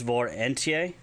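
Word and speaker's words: vor entye: So if you want to say thank you, it's Vor Entie. Thank you, Vor Entie, which is V-O-R space E-N-T-Y-E, and you put the emphasis on the E-N-T of Vor Entie.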